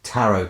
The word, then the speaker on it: tarot: them their fortunes with his tarot cards or taro as he insists weirdly on pronouncing it and with this format